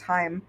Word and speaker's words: Heim: it's just some problems if it's specifically the German word uh it would be pronounced Heim yeah yes it's Heim